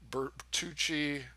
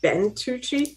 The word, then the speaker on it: Bentucci: So I think I actually did ring Bertucci and Kledic, but like Eusta, no. There's no way to feasibly guard it. Isn't that Bentucci? It is. I just mispronounced it.